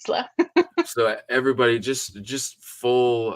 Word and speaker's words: Isla: really don't mind but if you ever see me pronouncing it it's always gonna be Ela so everybody just just